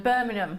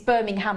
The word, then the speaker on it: Birmingham: Birmingham Birmingham you know when people sometimes are from down south and they can't pronounce it they go Birmingham I said you can't live here I said it's B he said it's Birmingham I said no you don't even pronounce the h with when you're a birming Birmingham but you say the g it's Birmingham I said